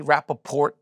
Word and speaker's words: Rapaport: name but it's it's you got to pronounce the T right that's not right that's not normal the T well cuz yeah I don't know why sometime it's a it's a good tea Rapaport you say the tea